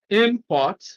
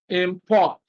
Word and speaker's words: import: So when it is used as a verb, stress is on the second syllable. When used as a noun, stress is on the first syllable.